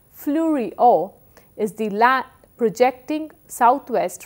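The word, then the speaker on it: Fleurieu: pink because of Algy Fleury peninsula flurry pronounced as flurry Oh is DeLaet projecting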